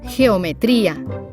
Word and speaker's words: geometría: Geometría, jirafa. There is no U in between, so you pronounce it like an H in English.